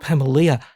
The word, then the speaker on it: Pamelia: Is that how you pronounce her name? Pamelia.